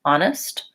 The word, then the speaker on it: honest: honest hmm honest yeah to make that a foul I do have to slow down and stress it a little bit too much so it is definitely an foul but you don't have to really work too hard to change your vowel just work on changing that it's very short honest honest and if this file